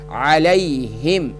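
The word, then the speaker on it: عليهم: زیر بی، غیر المغضوب، عین زبر ع، لام کو جزم کے ساتھ ملائیں گے، یا کے ساتھ ملائیں گے تو لام یا زبر لی، علی، ہا میم زیر ہم، علیہم، غیر المغضوب علیہم، واو زبر و، لام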